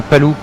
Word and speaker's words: Palou: We don't know how to say his name. On sait pas comment dire son nom à Palou. C'est Palou. Ah, je pense, ouais. Ouais, c'est Palou, hein. Je dirais Palou aussi.